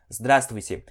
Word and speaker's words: Здравствуйте: Então, é здраст, essa aqui a gente come essa letra aqui, ó, deixa eu apagar ela, aí fica здравствуйте, ok?